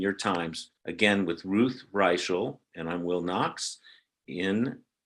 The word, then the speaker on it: Reichl: We're going to come back and talk with royalty, Ruth Reichl. It is Reichl, right? It's not Reichl.